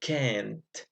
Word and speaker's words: can't: can swim but here you have to pronounce this a stronger so you say I can't so it so the